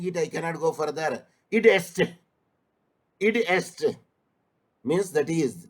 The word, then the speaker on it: id est: pronunciation? Id est.